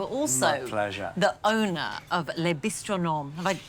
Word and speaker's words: Les Bistronomes: And you are also the owner of Les Bistronomes. Have I pronounced that right? Les Bistronomes in Canberra, absolutely.